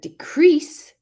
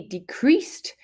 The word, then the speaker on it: decrease: So decrease, with the stress on the second syllable, is the verb. He decreased the hours I worked. And if we put decrease, that is a noun. The stress is on the first syllable.